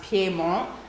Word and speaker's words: Piedmont: And what's important to understand about the northern Vermont Piedmont, and as Clive taught me, it actually is pronounced Piedmont, so foot of the mountains.